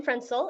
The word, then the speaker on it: Frenzel: Hi, my name is Frenzel, and yes, you pronounced that perfectly.